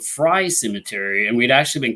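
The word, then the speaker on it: Frye: step cemetery we also investigated a location called fry cemetery and we'd actually been called into that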